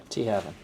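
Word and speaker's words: Tŷ Hafan: T Haven.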